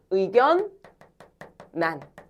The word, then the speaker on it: 의견란: 유마 적용하면 원래 어떻게 발음돼야 돼?의 결란 이렇게 발음해야 되지. 근데 이거 의견란 이렇게 발음하는 사람 별로 없지 않아? 어떻게 발음해? 의견 난 이렇게 발음하지. 맞아.